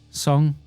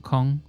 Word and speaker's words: Song: Actually, it's pronounced Song, not Kong.